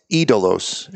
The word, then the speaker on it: Idolos: All right, Idolos, which means idols. It's Idolos is how it's pronounced.